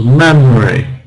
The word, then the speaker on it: memory: So Maria will compose a beautiful symphony tomorrow in memory, 2 syllables, memory, not memory, memory of her father.